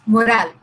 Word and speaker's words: morale: is raising the morale there are two words one is moral m o so you should know the difference in pronunciation this is morale so what is the